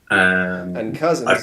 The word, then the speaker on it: Cousens: I'm also on Twitter at David Cousens, and Cousens is spelled COUSENS, not like the road.